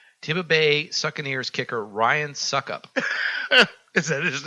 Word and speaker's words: Succop: Also, Tampa Bay Buccaneers kicker Ryan Suckup.